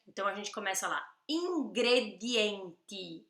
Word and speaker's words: ingredienti: Ingredienti, olha o D e o T, D e T.